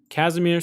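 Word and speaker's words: Kazimir: cyclotron state your name that's the name kasmir kasamir sikkov sikkov that's how you say his name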